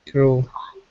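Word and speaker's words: Crewe: How pronounce? Crew. It's Crew. It's a place.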